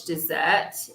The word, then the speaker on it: dessert: know my favorite english dessert is i think my mom's apple pie so that would be my favorite dessert dessert okay so remember to pay attention to the vowels dessert dessert okay oh